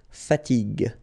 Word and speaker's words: fatigue: So as we said here, you should pronounce it G. Okay? So you get the word fatigue.